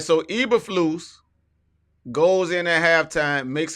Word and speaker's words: Eberflus: I keep calling the man Uberflus. Now, what's the man name? I think it's Eberflus. I was Eberflus. close. Yeah, you were close. All right, so Eberflus goes in at halftime, makes adjustments.